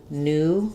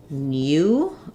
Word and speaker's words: new: Buu and it does in American English we say this new with the same sound um it's just the n Sound and the oo sound just like Buu is the B sound and the oo sound in British English they would say they may say new um so they have